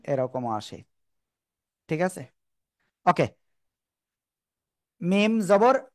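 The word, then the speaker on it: م: এখন আমরা সেটা দেখব এই দুই ঠোঁটের শুকনো জায়গা থেকে যে অক্ষরটা উচ্চারিত হয় আমরা সেটাই দেখি এখন এই যে শুকনো জায়গা মিম আবার মিম প্যারাফটা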